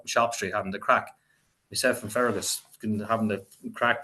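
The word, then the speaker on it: craic: we were up in shop Street having the crack from fagus having to crack play music right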